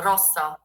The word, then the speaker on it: rossa: The R Yeah. is like very, like the tongue has to tremble a little. So rossa, ro, Yeah, so Rosa is too thick or just Rosa?